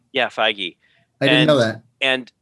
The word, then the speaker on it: Feige: Yeah, Feige.